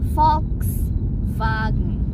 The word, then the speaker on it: Volkswagen: Kalau Jerman itu bacanya V, V. Jadi misalnya mobil VW itu mengejanya adalah VW, Volkswagen.